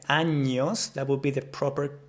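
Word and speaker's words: años: words for example like anos that would be the proper pronunciation anos instead of saying that I heard a lot of people saying anos anos so anos anos anos anos you see the difference hopefully that makes sense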